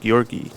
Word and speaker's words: Georgi: page oh looking like georg's actually pronounced gorgi all right like G and giddy or get so gorgi at the